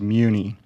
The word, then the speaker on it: Muni: First of all, my last name is pronounced Muni, like a municipal bond, a Muni bond.